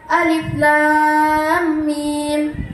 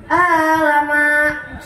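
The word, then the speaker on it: الم: Jangan sampai bacaan Alif Lam Mim dibaca alama, nauzubillah, summa nauzubillah.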